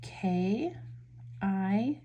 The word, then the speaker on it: Kie Pua: Okay, this one I believe is pronounced Kie Pua. So it's Kie Pua, and it's by Debbie Monero.